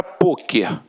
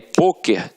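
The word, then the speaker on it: pôquer: Só que aí, poker tem uma pronúncia fechada, e aí leva o acento circunflexo.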